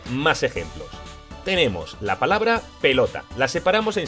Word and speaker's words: pelota: Ahora hacemos el truco del lobo. Pelota. La fuerza de voz la lleva en lo, por lo tanto, no es una palabra aguda.